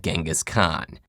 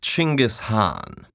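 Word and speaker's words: Genghis Khan: KH I see your honor is familiar with genas Khan the 13th century warlord whose military campaigns killed millions and left nothing but destruction in their wake objection first of all it's pronounced chingus Han really in Mongolia yes regardless he was one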